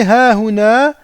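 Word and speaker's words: هاهنا: Et ha huna, il s'écrit comme ceci, mais il se prononce comme ceci. Ha huna.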